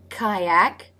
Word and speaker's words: kayak: Kayak. Now it's spelled with a Y, but it's actually the I as in by diphthong, so the tongue doesn't raise quite high enough to press the roof of the mouth.